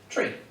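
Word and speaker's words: trí: But that's because in Irish, to say the number 3 is T-R-I fada, which is pronounced tree.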